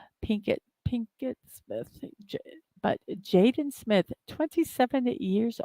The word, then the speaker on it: Pinkett: I know I said her middle name, her maiden name wrong, but Pinkett Smith.